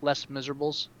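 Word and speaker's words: Les Misérables: Just for the record, it's pronounced Les Miserables.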